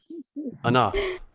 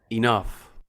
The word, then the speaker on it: enough: them into two groups sometimes when the letters g sound just like in the word cough laugh enough or enough direction now we don't